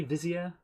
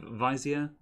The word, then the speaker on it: vizier: you as a grand vizier how is that pronounced correctly vizier yeah vizia yep very well yeah um all right yes